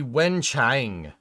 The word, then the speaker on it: Wenchang: It'd be Wenchang, with A and G being pronounced closer to long.